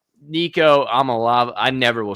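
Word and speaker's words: Iamaleava: Nico Amalave.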